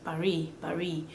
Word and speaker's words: Paris: When it's consonant, like Paris, the S in Paris, they don't pronounce it because that S is a consonant. The S is silent, completely silent. Paris.